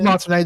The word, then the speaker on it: Martinet: Super Chat says that they met Charles Martinet. Or Martinet? I don't know if the T is silent at the end or not there, but Charles Martinet. It is Martinet, the T is silent.